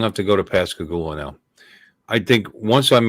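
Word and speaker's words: Pascagoula: pasag gou I'm G have to go to pasag goua now I think once I'm able to spell it P a s c a g o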